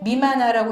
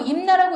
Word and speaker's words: 任那: 그래서 일본 서기에 나오는 임나를 자꾸 임나라고 읽으시면 안 됩니다. 여기 이 미마나라고 읽으라고 나왔잖아요. 그러니까 미마나라고 읽으셔야 돼요.